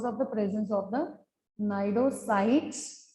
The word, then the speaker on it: cnidocytes: ठीक है, so you can write simply these are called as cnidarians because of the presence of the cnidocytes or cnidoblasts. C is silent. Okay, cnidocytes or the cnidoblasts, that which carries the specialized sting cells called as nematocytes.